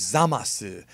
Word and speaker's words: Zamasu: The way they pronounce his name in Japanese is Zamasu.